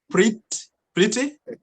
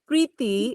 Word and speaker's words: Preeti: I can see we also have, is that Pretty? It is, yes. Hello. Is it the word pretty or it's... It's pronounced Preeti in India, but Pretty's fine.